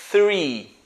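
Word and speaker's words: three: uma atenção muito especial que ele começa com ph o mesmo ph ele é pronunciado com a língua bem próxima dos dentes soprando fazendo true lá então seria depois four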